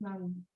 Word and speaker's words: Ng: So I say gently, it is pronounced N. There is no vowel, sound it out like an elongated small N. N. The G is silent.